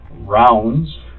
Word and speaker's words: Ravnsborg: that's always the Trick r a v n s b o r g okay but it's pronounced rounds like a round circle okay Burg like an iceberg it's Danish I even said it